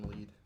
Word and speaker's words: Lied: it's spelled like lied, but it's pronounced lead.